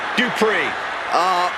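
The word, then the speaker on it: Dupri: Here comes the talented Maxine Dupree. Michael, it's pronounced Dupree.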